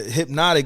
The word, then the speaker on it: Hpnotiq: It's just HPNOTIQ. So it's Hypnotic.